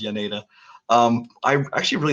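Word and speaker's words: Jaenada: I actually really like that Oscar, it's Janeda. I think it's pronounced Yaneda.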